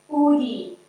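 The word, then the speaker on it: UDE: So, an undesirable effect ud is pronounced udie.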